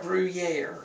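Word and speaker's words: Gruyère: Gruyere. Gruyere How do you cheese. spell that?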